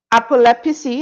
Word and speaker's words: Apep: propagating punies kill jar tesselated laughter among trees apep am I pronouncing that correctly yeah apop a AP PC a descaling Tara's mother's skin